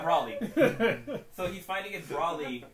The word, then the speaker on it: Broly: Isn't it Broly? How dare Brawley. You talking about Brawley? Yeah, Broly. So he's fighting against Broly, and he goes Super Saiyan God, but Broly does it too.